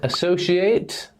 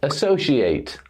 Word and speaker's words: associate: When we have verbs that end ate, the pronunciation is a. Duplicate, associate, alternate, activate, create, animate, debate, and accelerate. As a verb, we pronounce ate like the number 8.